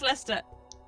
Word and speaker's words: Leicester: Yeah, it's Leicester.